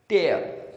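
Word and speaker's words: tear: और जब इसका मीनिंग फाड़ना होगा तो इसको प्रोनाउंस करेंगे टेयर।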